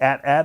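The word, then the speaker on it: AT-AT: there you can see the at at or atat walk ER don't fight about it guys pronounce it how you want to I say atat because that's an atst so that to me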